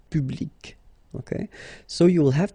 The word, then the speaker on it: public: So you can see that you get this final C and then you pronounce it, public.